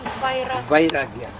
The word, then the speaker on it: vairagya: How do you pronounce this, the other one? Vairagya.